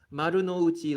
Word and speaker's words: Marunouchi: Marunouchi line. I gotta pronounce that properly since I'm from Japan.